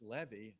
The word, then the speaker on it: Levy: to tell you but You' were pronouncing his name wrong and it's Levy they all went oh